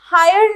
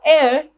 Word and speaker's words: heir: इसे हम hire नहीं बोलते. The pronunciation is heir. Heir to. It means उत्तराधिकारी होना. For example, she is the sole heir to a large property.